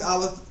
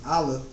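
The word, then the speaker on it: א: Pronouncing aleph and ayin, you have just learned that aleph and ayin are silent, lacking any phonetic value. While aleph is indeed silent, the consonant ayin does have some phonetic value.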